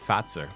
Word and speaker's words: Fazer: fazer on the box there but it's actually pronounced fat sir oh that's really cool hashtag Finn facts in